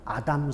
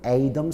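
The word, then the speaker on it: Adam: 아담 스미스. 예. 원래 발음은 에이덤 스미스예요.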